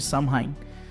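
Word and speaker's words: Samhain: antigo festival Celta de Sheim. Se escreve Samheimin, mas se pronuncia só um.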